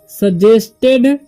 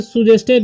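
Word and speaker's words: suggested: ठीक, ये सिर्फ से सुजेस्टेड नहीं पढ़ना है। ठीक, यहाँ पर यू का उच्चारण क्या हो रहा है, अ हो रहा है। ठीक, और जी का क्या हो रहा है, ज हो रहा है, तो सजेस्टेड। ठीक, सजेस्टेड पढ़ेंगे इसे हम।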